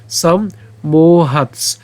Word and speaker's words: সম্মোহাত: ভেঙে দিয়েছি সম্মোহ এরপর সম্মোহাত সম্মোহাত খন্ডত্ব সাথে দন্তস উচ্চারণ করব সম্মোহাত এরপর মৃতি বিভ্রম স্মৃতিভ্রংশ